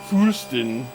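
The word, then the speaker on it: Fürsten: sovereign prince and princess foost fursten and boyar i'm pronouncing the umlauts it's f-u-r-s-t but with umlauts uh and after that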